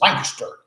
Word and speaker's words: Lancaster: Yeah, I said it wrong, right? It's Lancaster. I said, you're from Lancaster? He goes, no, Lancaster.